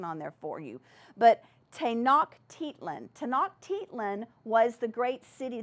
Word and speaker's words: Tenochtitlan: Now, some of these words are very hard to pronounce, so I put some pronunciation on there for you. But Tenochtitlan.